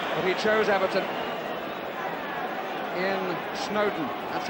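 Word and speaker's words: Snodin: But he chose Everton in Snowdon. That's how it's pronounced, although it's spelled S-N-O-D-I-N. Snowdon, as in Lord and Mountain, was the way it was put to me.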